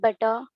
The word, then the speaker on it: butter: Put the pressure on b. So the pressure does not come on t.